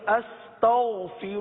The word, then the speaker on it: استغفر: کی تھی استغفر اللہ، جس میں غین کی ادائیگی کو درست کیا تھا، اس کو دوبارہ پڑھ لیجئے، استغفر اللہ، استغفر اللہ، استغفر